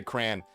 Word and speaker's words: crayon: Say crayon cuz there's a right and a wrong way to say it. Brother, I say crayon. If you think I'm going to add a second syllable, crayon, if you say that, that means you eat those things, dude.